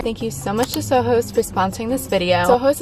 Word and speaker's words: SOJOS: them by the name sojos I actually learned that it's pronounced soos because it's inspired by Spanish words and ohos means eyes